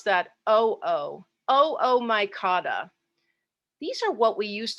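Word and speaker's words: Oomycota: like it ought to be pronounced but we pronounce that o-o-o-o-micotta these are what we used to call the water molds and the reason i even mentioned this is because this oomycata organism is the kind of fungus that brought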